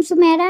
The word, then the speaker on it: Sumaira: टू my channel आज की video में हम सुमेरा नाम के मायनी और इसकी दीगर तफसी जानेंगे सुमेरा सुमेरा नाम के अंग्रेजी में स्पेलिंग बनते हैं एस यू एम ए आई